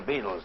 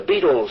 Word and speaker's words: Beatles: the beetle fan club The Beatles sound like insect life but it's spelled be E A Beat and these four